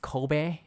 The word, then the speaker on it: Kobe: It's pronounced Kobe, by the way, just like the blur in your camera is pronounced bokeh, which is the Japanese word.